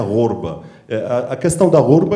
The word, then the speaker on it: ghorba: O tema é a questão da gorba, que a gente, na verdade, pronuncia gorba.